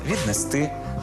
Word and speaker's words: віднести: останній склад занесли прибули до речі так само само наголошуються дієслова віднести принести занести перевести третя помилка так само